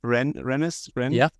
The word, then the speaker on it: Rennes: Last time we had a boot camp in, how do you pronounce it again? Rennes?